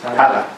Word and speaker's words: Tallaght: stations for Donald, Collinstown, and how do I pronounce it? Tallaght, is it? Tallaght, yeah.